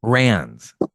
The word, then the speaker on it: Wrens: Is that where you're Wrens, at? like the bird. Rans. Wrens. Yeah. Like Yeah, little like the bird. Wrens.